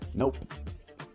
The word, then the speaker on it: nope: También se pueden decir literalmente nope y la P queda un poquito ensordecida al final, pero se pronuncia.